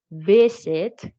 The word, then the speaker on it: visit: For visit, again, visit, not visit.